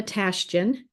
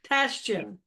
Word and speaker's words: Tashijian: It is Tashijian. Tashijian.